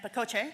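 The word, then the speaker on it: pacote: known as shrink-wrapped akash make fetch happen and Paco J that's how you pronounce that word are three standalone external libraries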